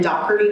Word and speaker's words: Doherty: The Wildcard office is located in Doherty Hall. Yes, that's how that's pronounced.